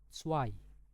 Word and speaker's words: zwei: Jadi zwei. Zwei. Nah, jadi untuk Z ini itu anggap aja kayak huruf TS. Ya, huruf TS kayak gitu ya.